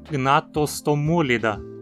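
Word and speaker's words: Gnathostomulida: Da mesma forma, então, dizemos priapúlida, gnatostomúlida, forônida. Nos artrópodes, a penúltima sílaba, po, tem vogal curta também.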